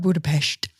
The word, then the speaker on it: Budapest: And Budapest. Budapest. Budapes. It's shesh. Shushesh. Not with not with a te.